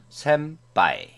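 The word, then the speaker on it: せんぱい: 반타음은 우리말의 쌍비읍이나 영어의 피음으로 소리납니다. 단어를 예로 들면 따라 읽어보겠습니다. 센파이, 신빙, 뿌리뿌리, 덴뽀와 같이 파, 피, 푸, 페, 포 또는 빠, 삐, 뿌, 빼, 뽀와 같이 발음됩니다.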